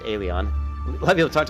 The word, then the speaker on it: Elyon: of people talk about eleon or it's actually it's pronounced alien a lot of people